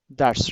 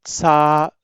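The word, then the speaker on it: ث: Without whistle sound. Some people pronounce it sa, sa, sa.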